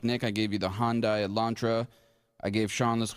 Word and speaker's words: Hyundai: it and i say hyundai because that's how i pronounce it when i was in england uh but it's actually hyundai they want it pronounced with like hyundai sunday uh this is an